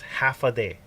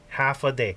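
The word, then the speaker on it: Håfa Adai: just sounds like this half a day half a day you say it just like that like half a day all right that's how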